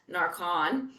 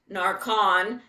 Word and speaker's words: Narcan: But I can't oust this TSA agent for not knowing Narcan, spelled Narcan, pronounced Narcon.